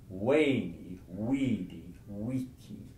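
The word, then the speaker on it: veni, vidi, vici: One of the things people remember about Julius Caesar is he famously said, "Weeny, weedy, weeky." Spelt with a V all the way through, but it's weeny, weedy, weeky, not V anything.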